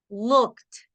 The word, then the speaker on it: looked: Arrived, listened, looked. Suena como T. Looked. No suena ed.